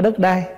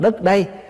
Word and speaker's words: đất đây: đất ở đây nè chứ không phải đất đai mình nói riết nó thành chạy thành cái chữ đất đai chứ Đúng ra là mình phải đọc là đất đây tức là đất này chúng ta đang ở